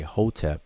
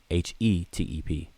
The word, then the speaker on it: Hetep: Some people say, most people say Hotep with an O, but it's usually it's been traditionally spelled with an E, Hetep, Hetep.